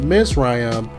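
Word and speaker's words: מִצְרַיִם: bondage also the word egypt which is pronounced misrayam is referenced as the physical land every time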